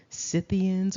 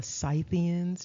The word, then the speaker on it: Scythians: the collective of people known as the cians or the scythians depending on how you want to pronounce that so let's get into